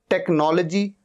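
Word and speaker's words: technology: टेक्नोलॉजी, टेक्नोलॉजी, एच यहां पर silent है।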